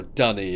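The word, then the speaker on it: D'ni: room leads to Denis, or Dunny as he pronounces it. I pronounce it Denis because Dunny in New Zealand and Australia in English is a toilet.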